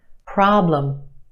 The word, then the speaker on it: problem: The problem is stretched and emphasized in the first syllable. Our second syllable is where you have your schwa, lum. Problem.